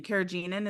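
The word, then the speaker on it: carrageenan: what's in our food and what kagin kagenin kagenin is how you pronounce it is what it actually is um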